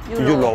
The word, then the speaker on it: euro: Mais comme ils ne prononcent pas le R, en général, ça finit en L. Ça finit en L. Yulo. Yulo, voilà.